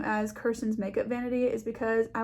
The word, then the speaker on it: Kirsten: My name is pronounced Kirsten, so it's Kirsten's Makeup Vanity is the name of my channel.